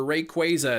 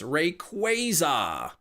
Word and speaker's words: Rayquaza: Pokemon gave an official pronunciation for Rayquaza. It's Rayquaza. When did they release that? Because I thought it was officially known that it was Rayquaza for a long time now.